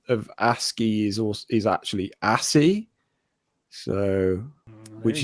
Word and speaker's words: ASCII: Because everyone in the chat is saying, is it ASCII code? ASCII code. Yeah. But Phil is saying ashy code. Yeah. So it's a mispronunciation from Phil, I believe.